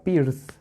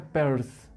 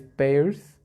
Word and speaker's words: Peirce: Eso también no se pronuncia Peirce, se pronuncia Peirce, porque de hecho se escribe Peirce, no Pierce, es Peirce.